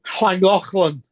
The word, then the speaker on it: Llangollen: It's Llangollen.